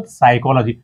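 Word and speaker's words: psychology: आता मानसशास्त्राला इंग्रजीमध्ये म्हणतात सायकॉलॉजी हे बऱ्याच जणांचे स्पेलिंग होतं हा पी आधी आहे म्हणजे आम्ही म्हणताना कुठे सायकॉलॉजी नाही म्हणत त्याला सायकॉलॉजी म्हणतो आहे ना अध्यार आहे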